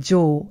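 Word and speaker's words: 城: Vous avez remarqué qu'on dit « jo » après chacun des noms. Hikone-jo, Nijo-jo, Iga-Ueno-jo, Osaka-jo, Shuri-jo, Takeda-jo. Car c'est l'une des prononciations pour le caractère japonais « château ».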